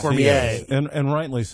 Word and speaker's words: Cormier: He's a stickler for pronouncing Cormier. His name correctly. Yes, yes Cormier. And rightly so. Yes. Rightly so. Yes. It is a French heritage. It comes from French heritage. It should be pronounced properly.